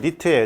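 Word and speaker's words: nit: 하나는 이제 NT로 쓰는 거, 자, 또 하나는 이제 SB로 쓰는 건데 여기서 NT는 뭐냐면 니트예요, 니트. 자, 니트고 단위는 이제 제곱미터당 칸델라가 되겠습니다. 그 다음에 SB는 뭐냐면 스틸브라고 읽어요.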